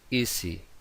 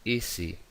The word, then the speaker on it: easy: Ahora, easy, easy. Es una S entre dos vocales, pues entonces se pronuncia vibrada. Vale, la S sonora.